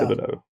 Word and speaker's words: Thibodeau: Thibodeau. It's like Thibodeau, Louisiana.